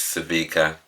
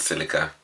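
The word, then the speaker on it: Sevika: got a name wrong it's savika not silica number oh really which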